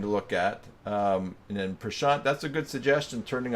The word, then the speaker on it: Prashant: Is it Prashant? What's a word that rhymes with it that I would know? Like chant, or I'm not.